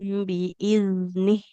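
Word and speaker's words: بإذنه: Huruf zalnya dia iz lebih mengalir suaranya. Iz tahussunahum biiznih.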